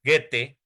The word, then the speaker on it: Goethe: El romanticismo alemán tiene una de las figuras más importantes que fue Goethe o Goethe, como quieran pronunciarlo, Goethe, algunos lo pronuncian Goethe, otros lo pronuncian Goethe o Goethe, hay diferentes pronunciaciones, pero el movimiento del